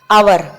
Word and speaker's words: hour: notice the word our as H is silent is here our start with the vowel sound so n is used before the word hour let's look the example